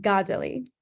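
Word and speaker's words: Kateri: I've actually learned that given where the accents are placed on her name in Mohawk it should actually just put this the um emphasis on the first syllable instead so Godly so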